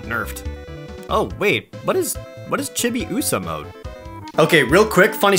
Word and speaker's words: Chibiusa: So, we pronounced her name Chibi USA.